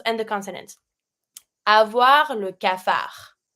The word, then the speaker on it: cafard: Avoir le cafard. Don't pronounce the D.